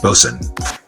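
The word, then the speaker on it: boatswain: is pronounced lowered and bosun is pronounced bosun oh you sing huh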